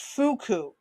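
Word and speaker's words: Foucault: B pronoun Oh, pronounced Fuku.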